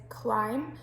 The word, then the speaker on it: climb: first word is climb now you don't hear the b on the end on that one but if you take the b off it would just be sort of clem so it makes it kind of like there's an e at the end of that particular word so it's just kind of one of those that you need to learn but it doesn't sound like climb but okay because that's